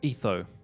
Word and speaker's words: Etho: But Etho. Or the P is silent, so it's just Etho.